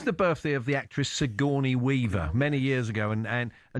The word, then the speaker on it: Sigourney: This was the birthday of the actress Sigourney Weaver many years ago, and for some reason, Andy pronounced her name as Sir Johnny Weaver, like she was some posh Dear bloke.